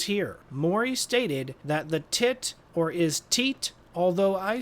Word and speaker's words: Titor: I say John Titor. That's the common pronunciation but the die hard fans call it tie tor or even tea tor.